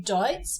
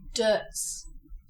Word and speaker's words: Deutz: now it's just dirt in German you would say dots but we are talking about champagne which can only be made in the champag region of France so you follow the French pronunciation and you say dirs what's tricky about this